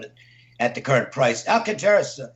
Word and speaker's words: Alcantara: at the current price Alcantara Alcantara excuse me I'll canter i know that's that's the way it's pronounced i can't rule the